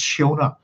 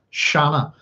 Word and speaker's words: Siona: Now, just so in relation to, so this, as I said, SIona's name here could be pronounced Shiona, or sorry, Shanna, with relation to Shannon.